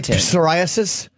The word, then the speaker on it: psoriasis: often is you say psoriasis that is a silent P say psychology yeah the